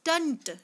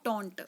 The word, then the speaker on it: taunt: तो टीचर ने उन पे टंट किया. स्टूडेंट्स, the pronunciation of this word is टंट, नॉट टॉन्ट.